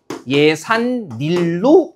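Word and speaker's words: 예삿일: 예와 일이 결합하면 예산 닐로 발음됨으로 딱 보여 주는 거죠.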